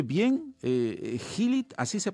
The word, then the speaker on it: Healeat: ¿Healit? ¿Así se pronuncia? Healit, sí.